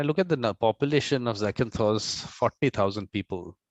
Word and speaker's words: Zakynthos: For foreigners, it is Zande sometimes, but it is Zakynthos.